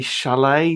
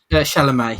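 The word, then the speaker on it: Chalamet: soon um for Luke is it Timothy shalet is that how you say it shalam yeah shal I thought I like Timothy shalam I saw him in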